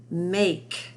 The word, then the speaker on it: make: Make. M-A-K-E, make, has that silent E on the end.